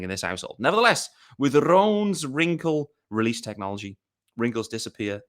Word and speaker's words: Rhone: Roan is spelled RHONE.